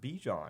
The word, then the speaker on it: Bijan: You're saying it wrong. No, he likes to be called Bijan. But what does his mom like to call him? Bajan.